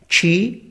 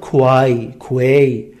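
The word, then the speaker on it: quay: که باورتون میشه این دوتا کلمه هم معنیان کی و کی؟ خیلی از بچه‌ها اینو تلفظ میکنن کوای کوی، یا اینو مثلا تلفظ میکنن کی، در حالی که تلفظ جفتش چیه؟ کی اسکله، کی یعنی کلیدی، نقش مهم اصلی.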